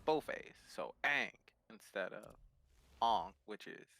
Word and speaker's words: Aang: mispronounce aang because um when you pronounce it ong you're assuming that the first a is silent so you're only saying a ing versus like the proper pronunciation is saying both so ang instead of on which